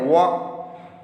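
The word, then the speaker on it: walk: आगे, underline the letter which are silent in the following word, जो silent है इसमें एल साइलेंट है, देखिए वॉक।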